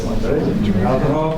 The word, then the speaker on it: Altenhoff: I'll try to pronounce her name properly. Altenhoff? Yes. Altenhoff, and then is a urban forest management analyst.